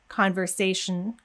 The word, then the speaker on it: conversation: not understand you but in words like conversation where we should go straight from the sh conversation we see that a